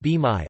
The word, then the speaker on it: bain-marie: A bain-marie, pronounced b-mai, also known as a water bath or double